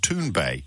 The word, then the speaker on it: Thunberg: I'm told by a Swedish correspondent is correctly pronounced tun Bay but um but I'm not Swedish so we'll